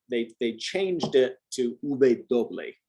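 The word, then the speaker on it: uve: bay the bay uh they've changed it to ube uh the w and this is also a regional thing in some countries it's pronounced doble some people do call it doble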